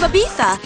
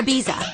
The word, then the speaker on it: Ibiza: from diamond encrusted glory holes to the proper pronunciation of ibiza or ibiza we've got a full half hour of gawking